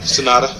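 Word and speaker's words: Sanada: Yeah, Sonata.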